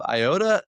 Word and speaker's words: Iota: representing Doug's Tree Care out of Iota. How do you pronounce that? Yeah, that's it. Iota, Louisiana.